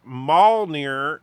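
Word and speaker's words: Mjölnir: And Darren says, a Nordic language professor once told me that Mjolnir can be pronounced Mjolnir as well, since the J was often silent.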